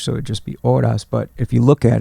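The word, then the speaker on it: horas: which is h-o-r-a-s but you don't pronounce the h in Spanish so it'd just be odas but if you look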